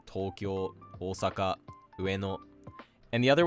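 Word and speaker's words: 東京: names almost always are pronounced in one of two ways. The first being flat with the heibon pattern such as Tokyo, Osaka, Ueno.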